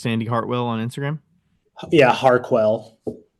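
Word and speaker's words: Harquail: Yeah, Harquell. Harquell. How do you spell that?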